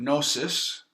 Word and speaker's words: gnosis: means knowing all right comes from the Greek word gnosis which is G a know the G is silent and KN Oh W